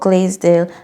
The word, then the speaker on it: Glaisdale: Um, so tell me a little bit more about Glazedale. Am I pronouncing that correctly?